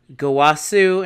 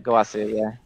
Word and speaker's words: Gowasu: We got the teachings of good and evil, Gowasu and Zamasu. Is that their names? Is that how you pronounce Gowasu? That's correct. All right. Gowasu, yeah.